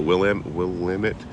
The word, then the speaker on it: Willamette: I hit the Willamette. I keep pronouncing this wrong.